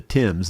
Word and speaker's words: Thames: Actually, that's the Thames, isn't it? That's how they pronounce it.